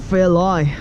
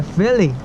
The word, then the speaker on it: Fairlie: It's a lie or it's a lee? It's a lee. Okay. This is a kind of weird name. It is kind of, it's spelled like it. You think it might be pronounced Fairlie. Yeah. L-I-E. Fairlie.